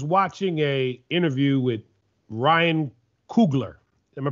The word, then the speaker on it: Coogler: ago i was watching a interview with ryan coogler am i pronouncing it correctly maynard that's correct that's homeboy